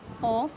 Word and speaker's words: of: type ऑफ, kind ऑफ, इट्स नॉट फ, यदि sound फ नहीं है, यदि साउंड व है, ऑफ, ठीक है, क्योंकि